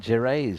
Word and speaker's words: Gervais: Yeah, Gervais, I think it is. And it's basically Norman French.